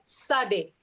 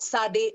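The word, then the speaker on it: tsade: uh is okay like remember the word boots okay how is the ts pronounced there that's how you would pronounce okay i'm just uh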